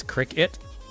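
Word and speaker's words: Cricut: Can you not pronounce names? It's Cricket. Okay. Cool. Why is it a big deal? Just saying. Nah. But cry-cut is also, like, a logical way of reading that, too. I guess the point is that you're right.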